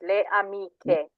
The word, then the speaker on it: amiche: Yes, le amiche.